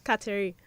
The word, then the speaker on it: Kateri: got it correct the first time it's katarius Cattery okay so that Nigel yes Scotty you heard